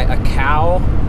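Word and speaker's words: açaí: am I have my a cow is how you pronounce that acai blueberry pomegranate there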